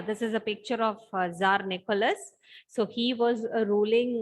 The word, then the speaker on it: Tsar: Tsar, Tsar. Okay, the T we are not pronouncing here.